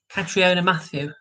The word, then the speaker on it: Catriona Matthew: Catriona Matthew. That's that's what it's pronounced.